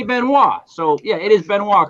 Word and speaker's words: Benoit: So, yeah, it is Benoit, correct? Yeah, Benoit is the French pronunciation of it.